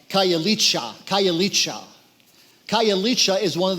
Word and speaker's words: Khayelitsha: of Cape Town and the names a little hard to pronounce but here's how I pronounce it this Khayelitsha Khayelitsha Khayelitsha is one